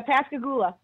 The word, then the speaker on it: Pascagoula: him what part of Mississippi how do you pronounce the Mississippi it's like Pascal Luther yeah Pascagoula okay I'm pretty familiar with that okay I